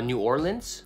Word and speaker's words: New Orleans: Spokane Spokane okay being in Spokane Washington uh New Orleans I think common popular pronunciations New Orleans New Orleans prevailing local pronunciation